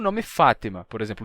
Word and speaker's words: Fátima: nome Fátima por exemplo o nome Fátima é árabe Fátima em árabe Fátima com com essa pronúncia tem um som de to to que não tem português ftima com to em português ele é adaptado pra Fátima não F mas Fátima com T normal ou até mesmo com T Fátima dependendo do sutaque da pessoa então mesma coisa